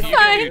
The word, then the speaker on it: Thyme: Time. The H is like silent. The herb, yeah. The H is silent, yeah. Okay, gotcha. Time like the herb.